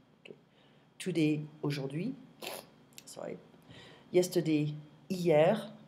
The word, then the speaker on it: hier: Yesterday, hier. I don't pronounce the H.